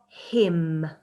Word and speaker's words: hymn: Okay, so number 1, hymn. I went to church and I sung a hymn. That was a tricky one. Can you remember what I said about that one? Had a silent letter. Hymn.